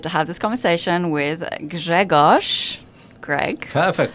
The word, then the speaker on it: Grzegorz: so incredibly excited to have this conversation with greos Greg perfect pronunciation thank you so much J Asha very